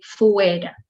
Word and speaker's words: fuera: Okay, fuera is two vowels and both sound, so you say fuera.